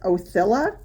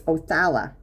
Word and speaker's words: Othala: This is Othila. I think that's how you pronounce it. Let's look it up together. Othila, which is, it's Othala. Othala.